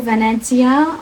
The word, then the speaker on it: Venezia: Also, that like I went to Venezia for a few days.